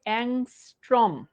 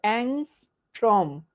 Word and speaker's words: অ্যাংস্ট্রম: যেটা লেখা আছে এটারে যে তোরা কি অদ্ভুত অদ্ভুত উচ্চারণ করিস এটা হচ্ছে অ্যাংস্ট্রম তোরাস্ট্রম তারপর হচ্ছে অনেক কিছু পড়িস ভাই খুবই অদ্ভুত শোনা খুবই উইয়ার্ড শোনায় সো এটা হচ্ছে অ্যাংস্ট্রম যেমনে বলছি এমনে একটু লিখিস অ্যাংস্ট্রম এবং সম্পর্কটা বলে দেই